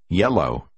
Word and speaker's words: yellow: Hai con chữ L đi liền nhau được phát âm gần như chỉ có một con chữ. Yellow. Số 8.